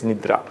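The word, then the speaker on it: निद्रा: called nindra Nidra Nidra when it comes to Pi Dr change d r assimilates to D and becomes Nida n i d d a long a Nida or Nidra Nidra in Sanskrit it's Nidra nid bangas bang bangas then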